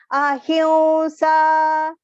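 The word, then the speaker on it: अहिंसा: Ahimsa. There on top of he, short he, you can see there is anuswara. Pronunciation will be nasal verb because the next alphabet is sa.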